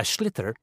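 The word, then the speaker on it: sliotar: you have to get this ball called a schlitter that's s-l-i-o-t-a-r so it's not spelt the way it's pronounced you hit it into the net for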